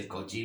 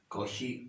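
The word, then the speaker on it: Cauchy: तो कॉशी ऑयलर equation, यूलर भी पढ़ते हैं बहुत से लोग, इसे कॉची भी पढ़ते हैं, लेकिन एक्चुअली जो प्रोनाउंसिएशन है वो यही है, कॉशी ऑयलर इक्वेशन।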